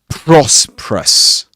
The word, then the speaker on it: prosperous: All right, you've got O at the beginning of this word. Proerus. Two schwah sounds.